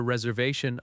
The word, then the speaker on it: reservation: The word reservation has stress on the third syllable. Re-ser-va-tion. That va syllable is strong.